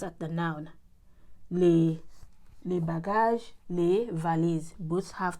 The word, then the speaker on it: les: As long as it is plural, you always say les. You add s you pronounce as if it is lay.